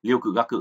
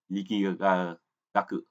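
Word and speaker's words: 力学: Thì là các bạn nhớ là chữ lực học thì chúng ta không đọc là liêu cự gác cự nhé, chúng ta đọc là liki gác cự.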